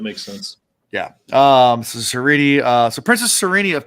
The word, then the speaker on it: Sarene: Chapter two, we get to meet Sarene. So, I'm going to say cuz I know while you're reading the book versus listening, it's Sarene.